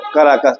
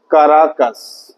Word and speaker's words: काराकस: सान Salvador, Quito और काराकस, Quito और काराकस। तो बेटा वेनेजुएला की राजधानी क्या है? काराकस। तो काराकस या काराकस दोनों हिंदी प्रोनाउंसिएशन है।